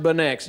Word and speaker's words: Beineix: It's pronounced Beineix.